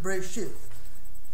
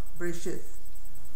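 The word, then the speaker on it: בראשית: The Yemenites pronounce it Bereshit. The TH, as in think, the TH of think, that's how they pronounce it, the last letter, the Saf, Bereshit.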